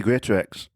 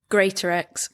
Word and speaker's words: Greatorex: So, with no further ado, let's get in Amy Greatorex.